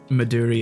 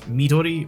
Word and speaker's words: Midori: to be the one to point it out maduri is not the right pronunciation damn it because it's it's a Japanese yeah um drink so it's Midori which is green because it's I think watermelon